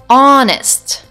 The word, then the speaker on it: honest: power but our next words are honor and honest here also I don't pronounce the first letter H and the last